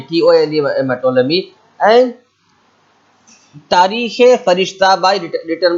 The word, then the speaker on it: Ptolemy: Directly, we pronounce Ptolemy, Tolemy, Ptolemy.